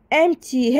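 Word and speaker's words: empty: اسمها ايه امتي امتي امتي هنا عندنا حرف البي بيكون سايلنت يعني ما بنطقه بقول امتي امتي ودي بتكون ادجكتف دي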